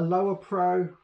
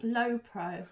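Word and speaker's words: Lowepro: so we have a a lower pro is how you pronounce it no it's low pro there's no bar in it no a low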